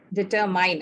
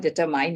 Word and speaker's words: determine: need to check, is determine. I mean, this is a word which is used very often by a lot of people, especially Indians. It's not determine, it's determine, okay?